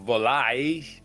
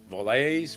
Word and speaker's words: Valois: Our feature biography is Margaret of Valois. Uh Valois, Valois, v a l o i s, Valois, Valois. I don't need to pronounce her s's in France.